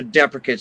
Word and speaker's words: Deprecates: it's we've had a lot of trouble with the pronunciation of the band name but I just want to get that out right out and clear right right now we're the deprecates right deprecates and we